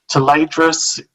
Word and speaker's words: Tayledras: Tadras is how to say it. Um, you know, uh, tress. Um, you can spell it however phonetically you'd like. And I'm sure that Mercedes lackey fans would probably be be outraged at our pronunciation, but we go with the fact that we're Aussies and we say things really weirdly, so that's just our interpretation of it.